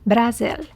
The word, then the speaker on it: Brasil: First, let's start with Brazil, pronounced Brasil in Portuguese.